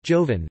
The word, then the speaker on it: joven: Although a significant number of nouns and adjectives ending with n are also stressed on the penult, joven, virgin, metine, the great majority of